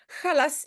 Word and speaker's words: Challas: avec nous euh donc Khas and the cost oui et maintenant je sais on doit prononcer Khas il y a plusieurs